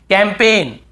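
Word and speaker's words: campaign: हमें याद रखना है कैंपेन कैंपेन कैंपेन यहां पर भी जी साइलेंट है कैंपेन फॉरेन बहुत से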